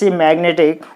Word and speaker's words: magnetic: So you put the stress mark on ne. Then it will be magnetic.